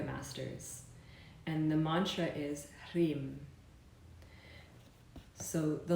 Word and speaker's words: Hrim: But when pronounced together with the R, the emphasis lies on the R, Hrim.